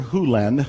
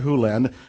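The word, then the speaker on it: Hew Len: Lenz world and it's actually Doctor Who Len I've learned it from E to dr. land but it's actually dr. huland if you want to say his name correctly in Doctor Who lens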